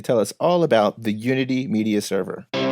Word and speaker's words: Younity: he's going to tell us all about the unity media server I'm here